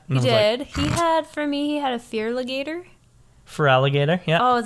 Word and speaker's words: Feraligator: He had a Fearligator. For alligator, yeah. Oh, is that how you say it? Yeah. Dang it. Because it's feral and alligator. I thought it was Feraligator.